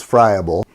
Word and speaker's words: friable: ought to cover is a term called friable or friable. I've heard it pronounced both ways. The proper way is friable.